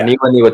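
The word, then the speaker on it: Aniwaniwa: Yeah, Aniwa Tate Jones. Niwa. You just say Niwa twice.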